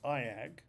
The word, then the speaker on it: EIAG: reasons for the tragedy the E A which I pronounce AAG is a four-step metacognitive